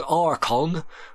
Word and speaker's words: Archon: of this game was archon pronounced with a K the light and the